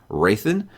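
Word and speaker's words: Hrathen: his name is pronounced racin it's it's H I believe the H is silent at least it was for me is it right that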